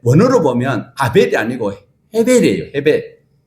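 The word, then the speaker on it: הֶבֶל: 헤벨. 자, 그러면 우리로 영어로 히읗 발음 나려면 뭘 써야 돼요?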